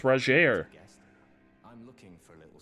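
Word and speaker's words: Rogier: i like your hat it's roger his name is pronounced rajeer i'm looking for a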